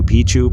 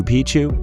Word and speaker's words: Picchu: machu picchu peru when a place rhymes with picture you can almost bet